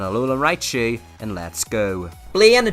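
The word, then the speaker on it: Blaine: Bla, just for any poets that may know, rhymes with pain, and I'm certainly feeling the pain when I get to his team.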